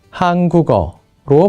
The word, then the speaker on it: 한국어: 여기 한국어는 한국어라고 쓰지만 발음할 때는 한국어로 발음되기도 합니다. 좋은 위치 동화가 일어난 겁니다.